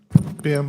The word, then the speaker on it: Bim: Bume, did I pronounce it right? Bim, like Tim with a B.